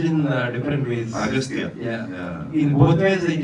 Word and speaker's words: Aghathiyaa: And some places the heroine calls you Aghathiyaa, and some places they say as Aghathiyaa.